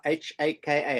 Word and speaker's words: haka: Did I pronounce that right, Rifle? Yeah, haka, H-A-K-A, haka.